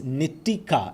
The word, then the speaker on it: Nia: your name wrong it's Nia is it it's Nia I've been saying Nikita I'm so sorry Nia